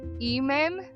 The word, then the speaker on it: Ehman: On August 15th, 1977, a scientist named Jerry, I looked it up, it's Ehman, but it's spelled E-H-M-A-N, Ehman, was working at Ohio State University's Big Ear Radio Telescope.